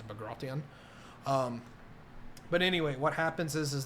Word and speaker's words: Bagration: What happens in the Eastern Front is what we call Operation Bagration or Bagration. No one's quite sure how to pronounce that. I believe that the technical term in Russian is Bagration.